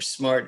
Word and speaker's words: SMRT: rapid transit project or smrt or smart as we like to to pronounce the acronym um we're very excited